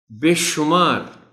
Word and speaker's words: بے شمار: خاص توجہ چاہیں گے۔ بے شمار شین پر پیش کا خیال رکھا جانا چاہیے۔ بے شمار نعمتوں، یہ